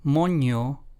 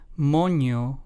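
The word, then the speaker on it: moño: to Monkey in English so as you can see the presence of the squiggly line the til also known as the letter n with when it's paired with the letter n completely changes its meaning and pronunciation this is why this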